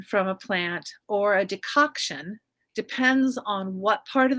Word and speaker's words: decoction: Okay, you say decoction. Yeah. Am I pronouncing it right?